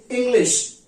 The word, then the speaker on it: English: इंग्लिश, इसका ही, इंग्लिश का ही उच्चारण बहुत लोग गलत करते हैं, इंग्लिश बोलते हैं। तो ये इंग्लिश नहीं है, इंग्लिश है। बड़ा वाला श इस्तेमाल करेंगे, इंग्लिश, ENGLISH।